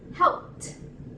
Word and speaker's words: helped: the letter P right it's going to be pronounced with the letter T helped help not with the letter P it is not positive